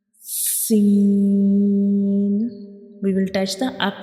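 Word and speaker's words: سين: You can see this is the inner view of mouth, and when we pronounce Sin, the tip of tongue rises towards the upper palate and touching the gums behind the upper 2 front teeth.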